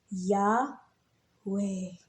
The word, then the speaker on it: Yahweh: in the Hebrew alphabet the yod or Y the Y is pronounced like yah the letter H is the her the V or W is the letter vve and the combination of this let us produce breathing sounds so yah way so whenever you're inhaling